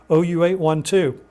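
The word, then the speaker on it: OU812: Yeah, they had some unusual names for their albums, but that's how it's pronounced, OU 812.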